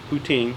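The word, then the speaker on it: poutine: beef gravy fries or poutin poutin I think is how you say it says he lived in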